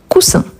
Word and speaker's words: coussin: Double S entre voyelle, donc bien prononcé coussin.